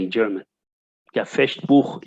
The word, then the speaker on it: Fechtbuch: Yeah, Fechtbuch in German, of course, we pronounce it this way.